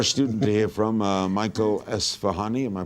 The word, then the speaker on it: Esfahani: All right, we have one more student to hear from, Michael Esfahani. Am I pronouncing it right?